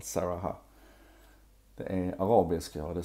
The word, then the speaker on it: Sarahah: Har du koll på Saraha? Jag tror det är så det uttalas i alla fall. Saraha.